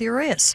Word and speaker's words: Urias: Strangely enough, curious rhymes with Urias.